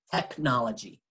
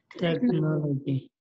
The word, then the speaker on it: technology: La palabra tecnología en inglés tiene la H, pero se pronuncia como la K o como una C sola. Technology. Technology.